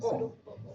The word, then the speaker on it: O: ustedes son grupo O, no se dice cero, grupo O. Le dicen cero porque el O se parece al cero, pero está mal dicho, se dice O.